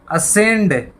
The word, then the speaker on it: ascend: ASCEND, असेंड। असेंड होता है चढ़ना। तो यहाँ भी सी साइलेंट है असेंड में।